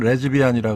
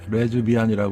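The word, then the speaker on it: 레즈비언: 그 레스비언 레비안 같은데 발음은 레즈비안이라 그러죠 레즈비안이라 그래야 되죠 어 레즈비안 있죠 그다음에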